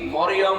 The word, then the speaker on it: মারিয়াম: মিম র ইয়া মিম মারিয়াম, 40টা নাকি পাবে না। যদি মরিয়ম বলে 40টা গুনাহ, কারণ অর্থ বিকৃত হয়ে গেছে।